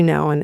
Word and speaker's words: Nouwen: called The Way of the Heart with Henry Nouwen.